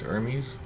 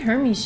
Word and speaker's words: Hermes: Okay, since it's a Greek name, I think, right? The H, there's no H sound here. It's so like it's Hermes. Hermes.